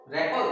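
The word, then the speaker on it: rapport: है, जैसे यह है, इसको क्या पढ़ेंगे, रेपल, रेपल, इसमें आर है वो भी अंत में ऐसे साइलेंट रहता है, रेपल।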